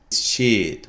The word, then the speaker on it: sheet: The word is sheet, sheet. Sheet with a long E. Okay, it's not. So this word means a rectangular piece of paper. To make sure you're pronouncing it right, just make the E as long as possible.